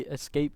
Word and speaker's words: ESC: According to Team ESC, sorry, they told us to pronounce it as ESC, and Which is in fact Escape.